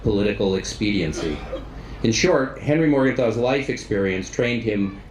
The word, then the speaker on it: Morgenthau: In German, our last name would be pronounced Morgenthau. He insisted on the Americanized Morgenthau.